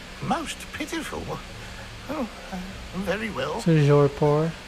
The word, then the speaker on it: Toujours pur: Toujours pour. Toujours pur.